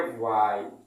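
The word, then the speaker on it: why: देख लीजिए, original pronounce इसका ये है, बट लोग इसका सही प्रोनाउंस नहीं करते हैं। बहुत लोग भाट कह देते हैं, बहन कह देते हैं, भाई। देखिए, क्या कोई भाई है किसी का? ना तो ये किसी का भाई है, ना तो ये किसी की बहन है। लोग ऐसे ही प्रोनाउंस करते हैं। ये भैया बिल्कुल गलत है।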